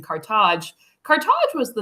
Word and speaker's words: Carthage: I mean, Carthage, as the Tunisians call it, in English it's pronounced Carthage, but I usually go with the Tunisian pronunciation, Carthage.